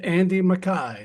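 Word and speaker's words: Andy Mackay: Then we have Andy Mai, that's how his name is pronounced, whose saxophone and oble work adds delicate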